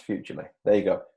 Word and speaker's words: Futrli: How do you pronounce Futrli? There you go, Futrli. It's think future and Lee.